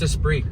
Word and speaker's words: Esprit: And if you are a Lotus fan, what about the black Lotus Esprit? I'm probably saying that wrong, but I mean that's a it's Esprit. Yeah, okay. No, you're pronouncing it right.